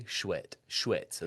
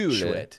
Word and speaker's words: chouette: Schwet. That's how you say it. Schwet.